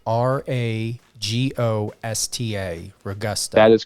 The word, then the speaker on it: Ragosta: Yeah, the pronunciation almost sounds like Ragosta. So it's like, it almost seems like there'd be a different vowel in there. But yes, it's an O, I swear.